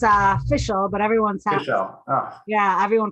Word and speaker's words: Fishel: Yeah, So actually it's official, but Fishel. Oh, yeah, everyone pronounces it differently. But yeah, yeah, Fishel.